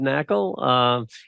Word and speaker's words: Knackle: And I'm Knackle. The K is silent. Knackle.